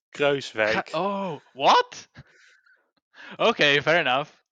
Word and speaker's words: Kruijswijk: It's Kruijswijk.